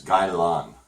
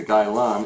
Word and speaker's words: Gai Lan: And now we have this vegetable here, and this is known as Gai Lan.